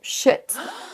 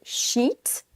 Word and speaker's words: sheet: Beaucoup de Français vont avoir tendance à faire un son I court. Si vous prononcez ce mot shit, ce n'est pas la bonne prononciation. Faites bien la distinction entre sheet, sheet, là c'est un i long, ça veut dire feuille